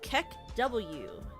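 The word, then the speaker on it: KEKW: It's pronounced Kek W. Kek W.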